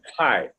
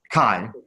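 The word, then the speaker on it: Cai: You've developed systems on, how do you pronounce it, Louis? Kai. Kai.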